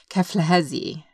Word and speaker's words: Keflezighi: his first name and his last name is pronounced keflezi and i actually had to look it up